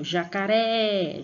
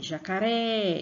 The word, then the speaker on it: jacaré: Outro exemplo, jacaré, jacaré. Então, percebam que no Ré, quando você pronuncia, você vai pôr mais força.